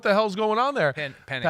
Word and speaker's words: Penix: going, man, Kirk Cousins stuck, and now Michael Penix didn't even look good at the end of the year. What the hell's going on there? Penix, not Penix.